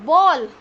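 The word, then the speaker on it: bowl: कटोरी को उल्टा कर दो, बॉल, इट्स नॉट बाउल students, इसकी प्रोनाउंसिएशन बॉल होती है।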